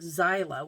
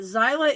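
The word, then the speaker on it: Xyla: I did a short this week, and the short was our son's dog, Zyla, which is spelled X-Y-L-A. But Zyla is a howler.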